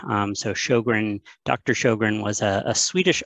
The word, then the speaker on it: Sjögren: on the slide so show grin is how we pronounce it that is very much the americanized version um so sjogren dr sjogren was a